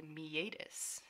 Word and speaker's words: meatus: Next is a meatus. Yes, that is how it's pronounced.